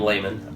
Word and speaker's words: Lehman: How do you pronounce? My name is Lehman.